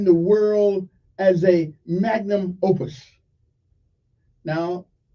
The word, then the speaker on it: opus: Magnum, OPUS. Now, that's not Opie, that's close to it, though.